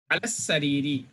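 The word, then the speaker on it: على السرير: But sin is a huruf shamsiya, we will not read lam. Lam will be silenced in pronunciation. Alas sariri, on the bed.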